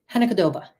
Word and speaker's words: hanakotoba: Japanese you say Hannah I'm G to do it phonetically first Hannah cooba hanakotoba Hanah Koba hoba so hoba